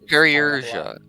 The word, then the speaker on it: Perusha: It's Perusha. I forget the I exists. You guys can look in the map. It's on the map. Yeah, it's like Perry as in like perilous, you know?